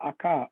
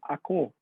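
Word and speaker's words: Ока: river AKA in in in Moscow it's called the AKA okaya in N noad it's called the AKO KO okay although it's spelled okaya so those those small changes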